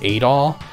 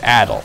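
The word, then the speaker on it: Adol: the name character's name is Adil sometimes they mispronounce it in voice acting as a doll but it's it's Adil a DOL but they named him Arin aro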